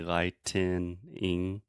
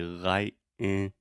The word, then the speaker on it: lightening: the longer answer is lightning is just two syllables and lightening when I pronounce this slowly and articulate you hear me say lightening but when I pronounce it fast I use a stop T and I say light in lightning lightning so in past conversation they sound essentially the same but you need to